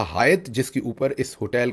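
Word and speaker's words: Hyatt: तो अक्सर लोग समझते हैं कि यह शायद कोई मिडिल ईस्टर्न नाम है या कोई मुस्लिम नाम है तो लोग अक्सर इसे हयात समझते हैं और हयात ही इसे प्रोनाउंस करते हैं।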